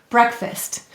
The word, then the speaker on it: breakfast: let's read it fast breakfast now you noticed that this said ist that's that schwa sound any vowel may say uh or i in an unstressed syllable now what two words